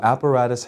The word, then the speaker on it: apparatus: So apparatus has 4 vowel sounds, 4 syllables. App, rat, us. So the third one gets the accent. That means we say it louder than the others.